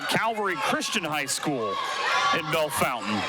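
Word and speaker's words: Bellefontaine: Christian High School in Bell Fountain or as Bell Fontaine if you spell it out how a monster quarter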